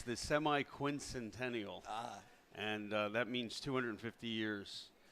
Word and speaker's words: semi-quincentennial: could pronounce it. It's the semi-quincentennial, and that means 250 years.